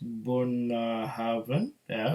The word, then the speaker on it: Bunnahabhain: nihilist single malt scotch whiskey the Haven of buna haben pronounced born how ya like I've been pronouncing and meaning mouth of